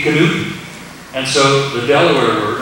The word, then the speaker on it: knoop: Or the Dutch word for button is, I guess it's pronounced in Dutch, knoop, K-N-O-O-P, knoop.